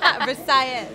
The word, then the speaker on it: Versailles: Versailles. I like it. You're pronouncing it correctly, like a true Miamian.